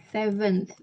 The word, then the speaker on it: seventh: Seven, Ada TH-nya. seven President Indonesia. Seventh.